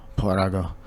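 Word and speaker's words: παράγω: par parag par paraga when that accent mark there you pronounce the the letter Parago all right pass away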